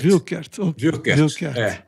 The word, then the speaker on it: Wuerkert: melhor deixar Bacelar mas a pronúncia alguma coisa parecida com o Wilker Wilker É isso aí então